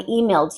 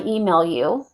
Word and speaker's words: emailed: But if you decide to skip that d, I emailed you, or I email you. Well, email you is wrong. I'm not hearing the D, therefore you did not conjugate the verb.